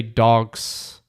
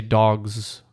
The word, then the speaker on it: dogs: lots of plural words we don't say dogs we say dogs with more of a z sound not dogs dogs see